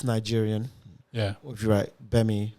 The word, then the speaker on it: Gbemi: If you write Nigerian, or if you write Gbemi with a silent G in the front, GBMI comedy.